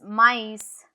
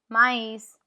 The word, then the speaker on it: maïs: It shows that the vowel on which it is placed, the two dots is placed, is pronounced separately from the vowel before it.